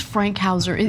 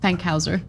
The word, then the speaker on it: Fankhauser: I thought it was Frankhauser. There's you're no right. R. It is Fank, F-A-N-K, Fankhauser.